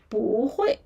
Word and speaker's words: bu hui: So, here Oh, actually originally is falling tone. You know the falling tone. Strong falling tone. Yeah. Falling tone. But here. But this word is kind of very special. Yeah. So, we need to go with some other tones. Yeah. It is very special. It will change to a rising tone. So, here the change to rising tone instead of bu hui.